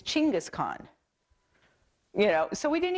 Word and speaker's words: Chinggis Khaan: a lot everybody knows Genghis Khan right okay no we don't that's not his name we all have been saying it wrong it's chinggis do I say right Lauren it's Chinggis Khaan you know so we